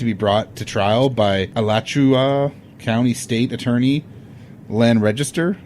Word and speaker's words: Alachua: All right, it took almost 4 years for Danny Rolling to be brought to trial by Alachua County State Attorney Len Register. I think that's how you pronounce the county.